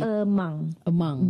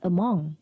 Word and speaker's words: among: Among Malaysians. Okay. Among. Because there are certain people pronounce it as among, which is wrong. Oh, okay. It is among. It's not among.